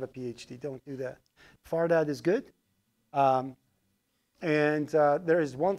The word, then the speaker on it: Fardad: It's difficult to, like, when I'm speaking in English, I pronounce my own name wrong. I say my name is Fardad, which is absolutely wrong. Okay. My name is Fardad. Okay, Far. Dod, so F-A-R-D-A-D.